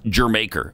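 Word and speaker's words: D'yer Mak'er: went to Jamaica and they called it germ acre because it's like it's saying Jamaica uh-huh with an accent okay yeah that's cool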